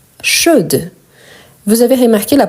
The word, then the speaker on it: chaude: donc on a chaud chaude vous avez remarqué la prononciation chaud je ne prononce pas le D chaude je prononce le D les e à la